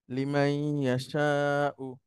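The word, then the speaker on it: لمن يشاء: লিমাই ইয়াশাউ, এই নুনের এই জায়গাটাতে আমাদেরকে কিছুটা সময় অপেক্ষা করতে হবে।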